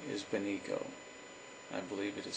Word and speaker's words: Benico: Her name is Benico. I believe it is spelled B-E-N-I-C-O, Benico.